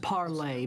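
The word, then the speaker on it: parley: that's what you said it's uh it's pronounced parlay but it's perfectly fine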